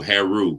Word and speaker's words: HAIRREAU: U and the EA the E and the a is silent so Haru kind of made it kind of like French kind of want to